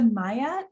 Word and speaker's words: Maja: So next up, let's go to Maya, then Teresa, and then Georgina. Yeah, hi everyone. My name is Maya. It's spelled with a J, but it's pronounced like a Y.